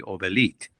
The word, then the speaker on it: Obelit: growing up in Iran everybody everybody called me Oelite.